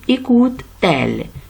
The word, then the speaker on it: écoute-t-elle: On dit écoute, elle, c'est un peu lourd, alors on dit écoute-t-elle, mais comment je fais la liaison ici avec un trait d'union ici?